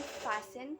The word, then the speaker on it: fasten: No T is heard in fasten, hasten, which makes them rhyme with arson, mason.